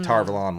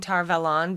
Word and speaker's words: Tar Valon: right nice okay so i spent my whole life saying tar velon because it's supposed to be avalon like from king arthur no no no no